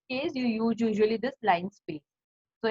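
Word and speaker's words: linspace: Now here also line space, it has been pronunciation is like that, but L-I-N-E-E is not there. It is L-I-N-S-P-A-C-E, line space.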